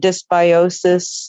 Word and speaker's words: dysbiosis: I think I can never pronounce it right. It's called dysbiosis.